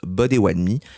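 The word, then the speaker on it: Bodéwadmi: certaines premières nations, notamment les potatami qu'on prononce Bodywadmi dans leur langue ainsi que chez les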